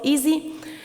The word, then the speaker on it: EESSI: It's pronounced easy and it's a European environment for scientific software installation.